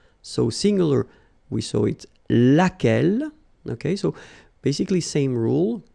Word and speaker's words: lequel: singular we saw it lequel okay so basically same rule q is not pronounced here and then you get